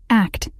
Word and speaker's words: ACT: and commitment therapy act act pronounced as the word Act was created in the